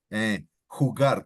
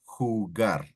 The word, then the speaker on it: jugar: The J is spelled H, right? So Juan, Let's say jugar, to play, jugar, right?